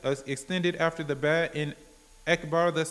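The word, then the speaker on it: أكبر: So then he might find that over time he's saying Wakbar instead of Akbar. He needs to say Allahu Akbar. The Hamza is apparent.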